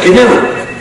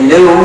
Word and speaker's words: GNU: it's not new anymore but it still is canoe so please pronounce it good you must avoid pronouncing it new and you should also avoid pronouncing it Linux